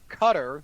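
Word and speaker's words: Qatar: pronoun it is pronounced cutter like er right but it's also not pronounced the way that it's spelled no it's not not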